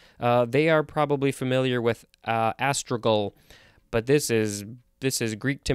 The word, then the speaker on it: astragal: Next we have astragal or astragal. I think it's astragal. A-S-T-R-A-G-A-L. This is a noun from 1563. If I didn't look at the pronunciation guide, I'd probably want to say astragal. Because it's with a G-A-L at the end.